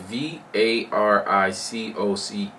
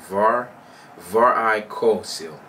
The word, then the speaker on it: varicocele: Varicocele? It's spelled V-A-R-I-C-O-C-E-L-E. I believe it's pronounced Varicocele.